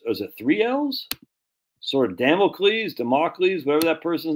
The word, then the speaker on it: Damocles: a manipulated Man by Esther Villar so you spell it wrong freaking Carl jeez man remedial spelling e-s-t-h-e-r-v-i-l-a-r Carl spell the e-s-t-e-r-v-i-l-l-l-a-r democles Damocles there you go all right cool what'd I